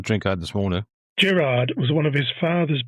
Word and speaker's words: Girard: G I R A R D but pronounced Girard.